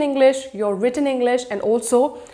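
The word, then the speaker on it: IELTS: besides total we will also have Al's ie L theist which is pronounced as Al's and the other test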